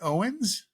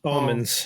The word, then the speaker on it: Omens: Okay, so we got Bad Owens. Omens. Or is it Omens? Omens.